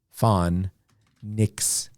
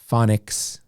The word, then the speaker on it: phonics: one for the pronunciation the ph the ph is f sound okay so far fawn nix phonics okay so for the